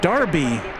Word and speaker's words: Derby: with a pronunciation correction Derby is pronounced Darby in the UK I should have known